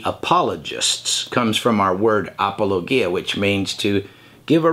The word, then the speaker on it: apologia: This word is a word pronounced, well, let's see here. Here's how we would say it in English. Apologia.